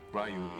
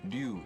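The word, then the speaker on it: Ryu: Rayu in English. Du in Japanese.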